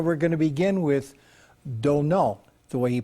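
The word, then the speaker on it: Domhnall: You know, so we're going to begin with Domnhall, the way he pronounces his first name, Domnhall Gleeson, who plays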